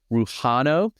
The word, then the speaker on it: Rujano: is a Chicago Cubs pitcher and that's Luis ruano that's spelled r u j a n o ruano